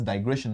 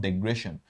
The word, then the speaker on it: digression: And you also need to understand digression is pronounced as digression, not digression. So you cannot write it as DE, you have to write it as DI.